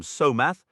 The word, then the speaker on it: Solmath: It's worth noting common pronunciations often softened the names. Solmath became somath. Thrimage was frequently written as thrimmich or the archaic thrimmilch and blotmath was said as bloodmath or blowmath.